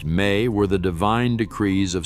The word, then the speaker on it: me: The me, pronounced may, were the divine decrees of Sumerian civilization.